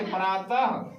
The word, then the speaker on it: प्रातः: विसर्ग की बात करते हैं तो विसर्ग में क्या होता है, इसका उच्चारण ह के समान होता है। मतलब इसको ह रीड एज किया जाता है, पढ़ा जाता है। जैसे प्रातः, ह अतः, स्वतः।